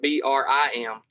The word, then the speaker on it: bream: people even spell it b-r-i-m b-r-i-m that would be that's how i would think it would be spelled correct yeah but no it's spelled b-r-e-a-m but it's pronounced brim okay so i want